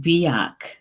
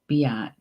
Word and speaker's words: beach: Yeah, in Gaelic, it looks like the word beach, B-E-A-C-H, and it's pronounced biach. Biach. No, I'm sorry. I think it's biach.